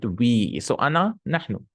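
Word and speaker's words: أنا: So Ana, Nahnu. Ana, by the way, is written with an alif. You should not pronounce the alif. You should not say Ana.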